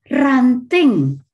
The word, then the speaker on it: ranting: both Indonesians and English exactly the same spelling in Indonesian you pronounce it and ranting which means tweak t w i d